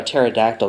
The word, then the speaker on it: pterodactyl: can't you hear a pterodactyl go to the bathroom why the p is silent God I will I